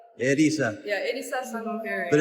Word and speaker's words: Erisa: Arisa Sano hering so you pronounce the r as an L so it's edisa edisa yeah edisa San but